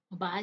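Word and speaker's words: bough: Okay, बा क्या होता है, शाखा होती है, इसे बा पढ़ेंगे। ओके, आपको मेरे साथ प्रोनाउंस करना है इन वर्ड्स को।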